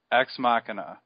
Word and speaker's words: Ex Machina: So I had to go to the Merriam-Webster website and listen to it pronounced. Hang on. Machina. Ex Machina.